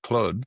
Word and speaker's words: Claude: Well, I just made the personal switch from chat GPT over to Claude, who I called by his French pronunciation of of Claude, and my whole team makes fun of me for that.